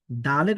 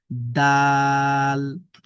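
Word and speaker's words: دال: এইযে তা যেরকম ভাবে পড়েছি দালের উচ্চারণটা ঠিক একই। আমাদের জিহবার আগাটা আমাদের সামনের উপরের দুই দাঁতের গোড়ার সাথে লাগবে। দাল দাল এরপরে দেখেন জাল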